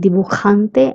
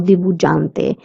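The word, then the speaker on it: durante: The j sound in duhante is c. That's why I'm saying duhante and not dujante. We don't pronounce it as j but duhante. And that is because many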